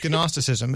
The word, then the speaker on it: gnosticism: like gnosticism but there are let's Doos but it's spelled gnosticism yes gnosticism it's from the Greek word gnosis yeah yeah